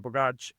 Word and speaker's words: Bogacs: So the last name, is pronounced Borg, like Borg through Star Trek, and Arch, like an arch. Nice. Yeah, so my name's Bogacs.